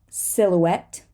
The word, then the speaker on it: silhouette: the T get tar silhouette silhouette here we have a silent h as well guilty guilty circuit